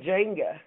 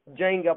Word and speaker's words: Jenga: I would say Jenga. Jenga, probably like Jennifer, Jenga.